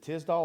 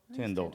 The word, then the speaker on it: Tyndall: Is it Tisdall or Tyndall? Tyndall.